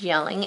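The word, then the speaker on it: Jelling: So I'm not going to write a Y though. I'm going to make it a J, and it's a place, so yelling.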